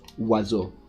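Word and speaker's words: oiseau: __ ] word okay maybe it would be spelled oo that's how it' be pronounced right no it's pronounced wazo or what ever how is this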